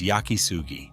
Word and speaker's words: Yakisugi: In the West, it is known by the mistranslation Shou Sugi Ban, a term born when a foreigner looked up each character in a dictionary independently and guessed the wrong pronunciation. In Japan, virtually no one recognizes the phrase Shou Sugi Ban. The correct word is Yakisugi.